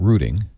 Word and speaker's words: routing: By the way, for our Australian and English users, we're talking about routing, that I hope you'll cover. See, they say routers and we say routers.